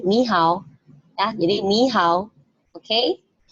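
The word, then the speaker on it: 你好: ketemu nada tiga, ya, nada tiga untuk dua kata seperti ini, otomatis kata yang pertama itu berubah menjadi kata nada kedua, ya. Jadi ni hao, bukan lagi ni hao, enggak, tapi ni hao, ya.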